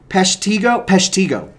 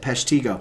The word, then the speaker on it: Peshtigo: Peshtigo. Maybe that's it. Peshtigo.